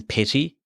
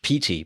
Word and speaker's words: Petey: Open Petty. Petty, text field, is editing. Inserting point at start. All right, fair enough. It might be pronounced Petey, but it's P-E-T-E-Y.